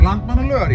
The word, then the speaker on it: Landmannalaugar: And without hesitation, he said, how to pronounce it? Landmannalaugar? Landmannalaugar, yeah.